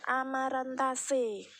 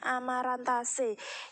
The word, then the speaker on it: Amaranthaceae: Jadi aceae itu dibaca C, Amaranthaceae. Kalau tulisannya adalah Amaranthaceae tapi bacanya Amaranthaceae.